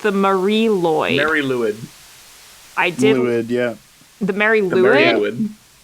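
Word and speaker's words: Mari Lwyd: So I believe it is pronounced the Mary Lloyd. Mary Lwyd.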